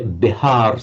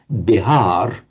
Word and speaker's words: Bihar: And we know the name of the state of modern India, Bihar state.